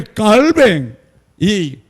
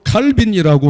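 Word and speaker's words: Calvin: 그리고 반드시 성만찬을 매주해야 된다고 가르쳤고 지금도 그렇게 하고 있고 어 종교 개혁가 중에 그런데 깔뱅이 영어 발음으로 칼빈이라고 하는 이분이 그러면 했냐 안 했냐 그분도 했어요.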